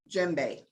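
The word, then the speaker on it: djembe: this is a toca gembe all right you don't it's print it's spelled d g a d j e m b e you don't pronounce the d so let's take a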